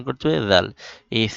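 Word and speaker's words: د: জিহবার আগা সামনের উপরে দুই দাতের আগার সাথে লাগিয়ে উচ্চারণ করতে হয় দাল। এই ফা দাল।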